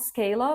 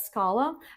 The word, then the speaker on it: Scala: Scala, not Scala, but Scala.